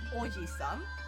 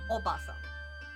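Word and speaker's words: おばさん: Aunt would be not oisan. It would be oasan. Obasan. And then with a long a is grandma.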